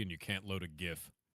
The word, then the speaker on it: GIF: If you pronounce it Jif, he also the villain of the... Wait, what? Oh, villain of Zelda is now Janendorf? Ah, yes. Janendorf. Yep. It's GIF.